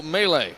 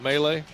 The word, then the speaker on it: Melee: It's going to be Logan Noyes of Burgettstown and Melee of Chartiers Houston. We going with Melee? Mel. Glad I asked.